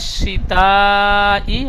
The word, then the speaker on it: الشتاء: শিন রিহ লাতা শিন শিন অক্ষরটি আপনার সিনের মতো উচ্চারণ হয়ে গিয়েছে একটা সিন নোক্তা নেই আর 3টি নোক্তা রয়েছে অক্ষরটি শিন হ্যাঁ একটু ভারী আওয়াজে শিন হ্যাঁ রিহ লাতা শীতাই ওয়াস-সাইফ ঠিক এইভাবে পড়বেন আচ্ছা বানান করেন এখান